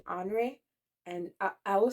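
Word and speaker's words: Henri: love French names so in English we would say Henry but in in French it would be hre and I I will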